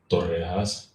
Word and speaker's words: torrejas: So it is pronounced torrejas.